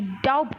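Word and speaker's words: doubt: बोलते क्या है डाउट तू लिखने हैं दी ओ यू बी टी डाउट लेकिन पढ़ने क्या है डाउट ठीक इसी तरीके से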